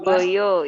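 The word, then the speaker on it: Poerbojo: Muhammad Amir, yang ke-12 Purboyo itu ejaan lama. OE dibaca U ya, Rumen.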